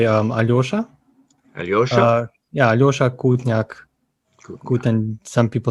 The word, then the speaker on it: Aljoša: Well, I mean, different people pronounce it differently, but usually they just say Aljoša.